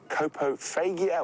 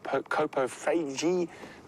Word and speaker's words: coprophagia: Coprophagia or coprophagy or coprophagy, depending on your pronunciation, is the correct term for an animal that eats feces.